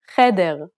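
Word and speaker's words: חדר: This is a guttural H, pronounced at the back of the throat.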